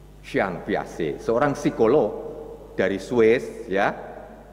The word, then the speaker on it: Piaget: Kalau mereka yang pernah studi di Fakultas Psikologi atau program studi psikologi pendidikan diajarkan ini, yaitu teori, sungguhnya tulisannya Jean Piaget, tapi bacanya katanya Jean Piaget. Jean Piaget, seorang psikolog dari Swiss, ya, yang membuat percobaan tentang perilaku tikus, saudaraku.